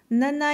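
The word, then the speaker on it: なな: Troublante coïncidence quand on sait que le chiffre 7 en japonais se prononce Nana.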